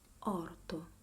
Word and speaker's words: orto: Then with the letter O, we have orto. One open O, one open O, and one closed O.